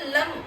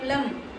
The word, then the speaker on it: लम: बीज मंत्र लम एल ए एम लम लम के उच्चारण के साथ पृथ्वी तत्व से आने वाली